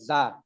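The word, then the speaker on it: زاي: না যা ইয়া গইন যা শব্দটা কি হবে যা শক্ত করি ওদিন বললাম না যে যা হরফটা উচ্চারণের সময় একটা ভমরের মতন একটা আওয়াজ হবে যা যা যা উচ্চারণটা যা না জা হয়তো জিম হয়ে যাবে।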